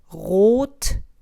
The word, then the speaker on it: Rotring: And so you would pronounce that word as Rotring. So it's not an R sound like Rotring. It's Rot, and the O is an O. It's O, Rotring.